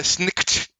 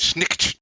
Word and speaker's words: Snikt: Because Skaven assassins, and particularly Deathmaster, oh god, I can't pronounce his name, Deathmaster Snikt, meant to sound like the sound of a knife coming out of his shift, Snikt, him, the Deathmaster, he will come for you.